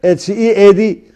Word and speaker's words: head: Head, H-E-A-D, pronounce it head.